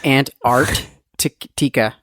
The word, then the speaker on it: Antarctica: i'm jacked it up it's ant art tikka that's how you say it i feel so